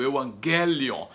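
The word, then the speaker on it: εὐαγγέλιον: é o hangar lyon essa é a pronúncia da palavra no grego eu angele on eu ganho e então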